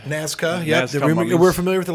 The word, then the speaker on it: Nazca: Yeah, so this is, how do you say that, Nazca? Nazca, yeah.